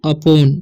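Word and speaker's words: upon: Once अपॉन, इसे पढ़ते हैं हम अपॉन, ठीक है, उपॉन नहीं पढ़ना है। देखिए यू का उच्चारण यहाँ पर अ हो रहा है, क्योंकि यू के साथ पी है तो अप होता है, ओ एन का ऑन, तो अपॉन, ठीक है।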